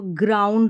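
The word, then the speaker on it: ground: रहा है ध्यान रखें फिर ओ यू एंड डी जहां पर भी ओ यू एंड डी इस तरीके से साथ में आ जाएगा आउंड करके आप प्रोनाउंस कर लें एक ही साथ याद रख ले ओ यू एंड डी को आउंड करके तो ग्राउंड हो गया ग्राउंड डी को ड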